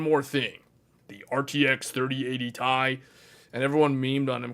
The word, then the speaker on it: Ti: but it's actually called Tai. It is not called TI. The correct pronunciation is Tai, the RTX 3080 TAI.